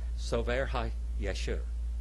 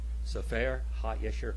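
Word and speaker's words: ספר הישר: Sofer HaYeshur. Sofer HaYeshur.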